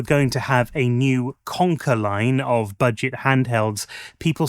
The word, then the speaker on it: KONKR: That name Conquer, it's a strange one for me. It's spelled like a new brand of Swedish flatpack furniture makers, but Conquer to me reminds me of my childhood.